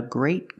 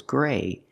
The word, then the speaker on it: great: a gray car but the word great has a T and we pronounce it with a stop T it's a great car